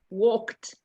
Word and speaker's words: walked: sweetie not walk it it's a silent e we don't say that walked you don't say that you passed you don't say the e a few months ago